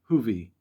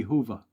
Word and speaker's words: Huwe: he says now interesting my last name huwe is actually pronounced huie and if you really wanted to get sophisticated the real German pronunciation would be Hua but um you know regionality in the United States and family tradition and attention to the old former ways and Homeland from the 1860s are something that plays into it half of my Rel relatives pronounced the last name Huey and half of them pronounce it huie and I grew up